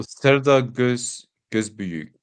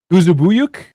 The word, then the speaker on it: Serdar Gözbüyük: And you know how I pronounce Turkish? Oh, Serdar Gözbüyük. Serdar Gözbüyük. Definitely not how I said it. How did you say it? Guzubuyuk?